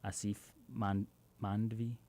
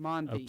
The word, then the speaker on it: Asif Mandvi: And she kind of comes into contact with David Acosta, Mike Coulter, and let me get my pronunciation, Asif Mandvi. Yes. Mandvi, who plays Ben Shakir.